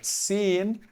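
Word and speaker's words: zehn: um numeral atenção gente esse H aqui ele não está aqui por engano Ele simplesmente está dizendo o seguinte Olha eu quero que essa vogal é de escola seja pronunciada de maneira longa fechada e longa então e eu tenho que demorar mesmo tá gente então aqui eu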